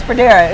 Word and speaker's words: Fredara: Did I pronounce the name right? Oh, it's Fredara.